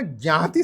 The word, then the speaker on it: ज्ञाति: तो आप देखो जाति और ज्ञाति के प्रोनाउंसिएशन में बहुत ज्यादा अंतर नहीं है। ज्ञ को ज हमारे उत्तर भारत में खूब बोलते हैं, तो ज्ञाति जो है ना जाति में बदल गया है।